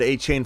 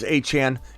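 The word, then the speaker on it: Achane: how everybody's pronouncing it announcers have said a chain for for God knows how long he he reportedly says Hey Chan it's okay either way you take them it's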